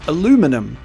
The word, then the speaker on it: aluminum: it's pronounced aluminium uh in places like america it's pronounced aluminum i can see both